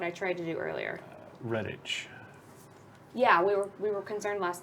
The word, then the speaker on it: Redditch: invoke to JK Rowling so is is Redditch like quidditch right okay so there's that